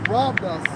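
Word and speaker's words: ῥάβδος: Hey, rod in the Greek is Strong's G 4464, pronounced as robus, and it means as used on a journey or to lean upon or by shepherds.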